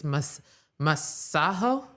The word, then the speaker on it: Masego: They've been pronouncing my name wrong. It's Masah."